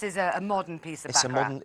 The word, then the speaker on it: Baccarat: Along with, you don't pronounce it Baccarat, sorry, I do beg your pardon. Oh, Baccarat.